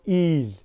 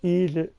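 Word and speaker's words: Ys: It's spelled Y-S. I got a whole show of E's. If you want to go on my channel and look up E's, it's on there. But it's spelled capital Y, lowercase s, no apostrophe or nothing, just the Y and the S.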